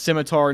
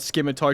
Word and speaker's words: scimitar: And yes, I know it's pronounced scimitar, not scimitar.